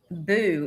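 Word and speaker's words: Boux: It's Chuck Boo is his last name. B-O-U-X, but it's pronounced Boo.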